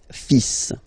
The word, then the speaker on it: fils: So it's le, and then even if you've got this L, well, basically you don't pronounce it, and then strangely you pronounce the final S. Le fils.